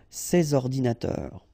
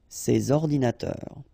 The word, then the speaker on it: ces ordinateurs: and then ordinateur, computers, so you should make the liaison between S and O, ces ordinateurs, ces ordinateurs.